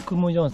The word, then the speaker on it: 金井: メートル頂きました金井さんと書いてクムージョンさんと読むんですねでもここに